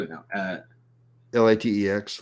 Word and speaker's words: LaTeX: spell it now uh l-a-t-e-x letter yeah that's the one yeah I'm pronouncing it the Greek way because that's how it's supposed to be pronounced yeah yeah so if